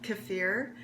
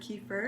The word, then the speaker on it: kefir: It's actually pronounced kefir, but it just comes more naturally to me to call it water kefir, and some people call it that.